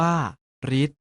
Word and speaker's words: ฤทธิ์: ต่อ ไป นี้ เช่น ฤทธิ์ ออก เสียง ว่า รีส ทฤษดี ออก เสียง ว่า